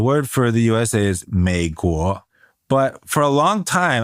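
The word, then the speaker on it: 美国: So instead of saying third tone, second tone, I was actually saying second tone, third tone. So I was saying 美国 when I should be saying 美国, third tone, second tone.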